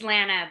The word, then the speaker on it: Lana: Is it Lana or Lena? It's Lana, but I'm pretty used to hearing it pronounced either way.